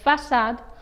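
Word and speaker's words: façade: not forget how you asked sava and said facade here too sir is read as sa so having this changes the pronunciation of c as ker to so finally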